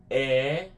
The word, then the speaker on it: é: Remember that there's an accent on top of that E which is the more open and more stronger sound.